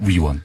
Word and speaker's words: 위원: 발음을 정확하게 해주십시오. 의원이 아니고요. 위원입니다. 위원.